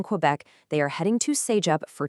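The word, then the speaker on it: CEGEP: C E G E P pronounced say-jep.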